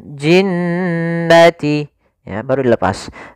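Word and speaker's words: الْجِنَّةِ: Hati-hati dalam pelafalannya, jangan langsung dilepas, jangan jinnati wan nas, enggak, tapi tahan dulu dua harakat ya gunnahnya. Minal jinnati, ya, baru dilepas. Minal jinnati wan nas.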